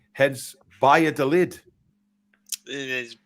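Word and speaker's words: Valladolid: with the pronunciation of Via de lid in Spain V is pronounced like a b and a double L is like a y heads Via de lid it is it's yeah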